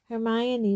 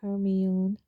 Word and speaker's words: Hermione: Hermione was now teaching Crumb to say her name properly. He kept calling her Hermione. Hermione, she said slowly and clearly. Hermione.